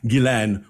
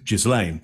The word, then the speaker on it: Ghislaine: to pronounce it like those that know uh Gillen will know how to pronounce that rather than jislane so you know if